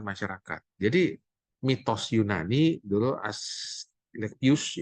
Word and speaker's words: Asclepius: Jadi mitos Yunani dulu Asclepius, ya, Asclepius dibacanya, orang pertama yang mengobati penyakit.